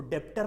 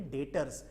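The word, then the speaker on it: debtors: बच्चों उसमें से बी क्या है, साइलेंट है, बी क्या है, साइलेंट है, बराबर। तो उसको डेप्टर नहीं पढ़ेंगे, उसे पढ़ेंगे डेटर्स।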